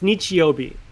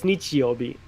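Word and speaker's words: 日曜日: So it's pronounced nichi and it's pronounced bi.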